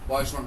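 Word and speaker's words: Poisson: Binomial distribution এবং binomial ডিস্ট্রিবিউশনের পরেই যে ডিস্ট্রিবিউশনটা আসে সেটি হলো পয়সন ডিস্ট্রিবিউশন। তো এটি 1837 খ্রিস্টাব্দে ড্যানিশ পয়স, উচ্চারণটা হচ্ছে পয়সন ইংরেজিতে, কিন্তু আমরা বাংলায় উচ্চারণ করি তাহলে হচ্ছে পয়স।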